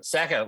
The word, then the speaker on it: Sakker: Sakker, like sack of shit.